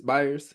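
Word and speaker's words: Byers: The other piece is will buyers or is that how do you say bayers? Buyers buyers. Yeah, buyers.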